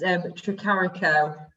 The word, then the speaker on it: Tricarico: So how do you pronounce your surname? It's Tricarico.